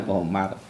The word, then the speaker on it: Qamar: Tulisannya kamar ya. Surat Al-Qamar bacanya Qamar.